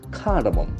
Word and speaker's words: cardamom: Cardamom. Beautiful. What a beautiful word. Cardamom. Can see again the letter is C. The sound is hard.